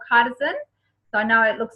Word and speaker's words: chitosan: It's called Chitosan. So I know it looks like it's pronounced Chitosan, but it's Chitosan.